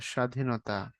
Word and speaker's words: স্বাধীনতা: তারপরে তোমার এই যে স্বাধীনতা, এখানে বহাল থাকে না।